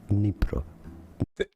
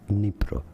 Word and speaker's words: Dnipro: It's a little bit like DN, but you can almost ignore the D sound.